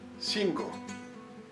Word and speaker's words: cinco: When the letter C is in front of the vowel E, also sounds like the English S. C, C, cinco, five.